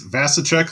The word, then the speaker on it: Vasicek: It's Vasicek, like cash a check.